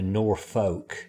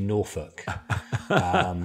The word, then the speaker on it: Norfolk: Yeah, so the Norfolk Broads, Norfolk is, or as you would say in America, Norfolk, it's actually Norfolk. so just putting it out there, the correct pronunciation.